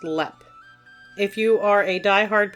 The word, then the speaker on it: Leap: Ireland to discuss haunted LEP castle and yes it is spelled like the word leap but it is pronounced LEP if you are a